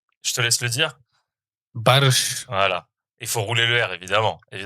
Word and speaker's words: Barış: Barış. Non, ben non. Pas De que. Baris Adi Gouzel, Exactement. comme disent les gars de RMC. Bah ouais, parce que finalement, ça se prononce pas du tout comme ça.